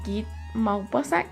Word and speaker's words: Maupassant: Esta guerra catapulta a Guy de Maupassant o Guy Maupassant, que así se pronuncia en francés, como ya les había mencionado.